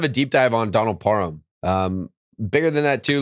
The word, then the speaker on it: Parham: it's part of him emphasis on the ham so sorry par hammy